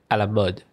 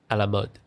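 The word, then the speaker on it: à la mode: Yeah, but actually in most European languages, the O would be more flat. Like Sherry was saying, would be a flatter sound. A la mode. A la mode. A la mode. Almost sounds like mud. Like MUD mud.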